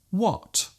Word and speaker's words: what: There is actually no need to pronounce the H so strongly. Just let the sound leave your lips naturally. When, what, whip.